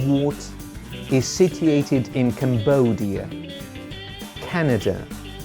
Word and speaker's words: Canada: Canada. We stress the first syllable here.